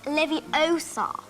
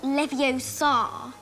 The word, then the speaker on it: Leviosa: in the books intelligent you're saying it wrong it's Leviosa not Leviosa great sense of herself